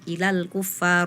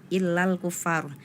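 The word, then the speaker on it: إلى الكفار: Fala tarjiuhunna Ilal kuffar tadi ada tambahan tasdid ya padahal asnya itu tidak ada tasdidnya Ilal kuffar bukan illal kuffar ya nanti diperhatikan lagi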